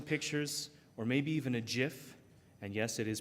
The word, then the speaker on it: GIF: there were some pictures or maybe even a gif and yes it is pronounced gif to go along with it the